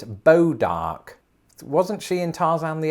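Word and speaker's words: Bois d'Arc: not even in america so i think it's more along the lines of boys dark no they've taken it in a completely different direction apparently it's bo dark wasn't she in tarzan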